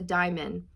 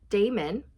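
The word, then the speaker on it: daemon: you could pinpoint your Damon it's Damon it's not Diamond I pronounced that wrong it's Damon if you could pinpoint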